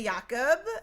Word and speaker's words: Jacob: I Well, you know, out of respect for the culture, I want to call his ass Jacob. Jacob. That's how it's spelled. But yes, that's how it's spelled. But my American ass will just say Yakob because I don't want to offend anyone. We're probably still not We're probably still not doing it right.